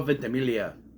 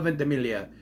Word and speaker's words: Ventimiglia: character, our protagonist, Peter Potrelli, played by Milo Ventimiglia. Milo Ventimiglia. You know how long it took for me to figure out how to pronounce that name? Milo Ventimiglia.